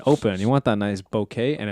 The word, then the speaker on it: bokeh: You want that nice bokeh, and it's bokeh because it's spelled with the EH, not bokeh. Stop saying that.